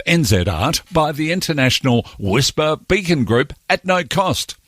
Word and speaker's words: WSPR: a whisper transmitter in zl wspr pronounced whisper stands for weak signal